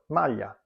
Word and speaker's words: maglia: double consonant sound, and the same goes with GL, as in the words aglio or maglia.